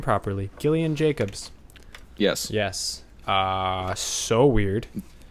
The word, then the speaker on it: Gillian Jacobs: moving on yep moving on love with I've just recently learned how to say her name properly Gillian Jacobs yes yes ah so weird did you like